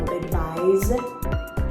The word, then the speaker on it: advise: and when we pronounce advise the first word you see here on the board we use kind of a z sound so advise and for the word